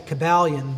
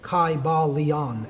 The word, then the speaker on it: Kybalion: Greek language in which there was no like short y sounds you know it would have been a long I sound Kai ba Leon and every syllable would